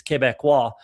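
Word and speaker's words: Québécois: It's Quebecois is really how you would say what that, or Quebecanese as we call it sometimes, but Quebecois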